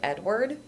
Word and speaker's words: Edouard: Last I saw it, it looked like they just pronounce it Edward.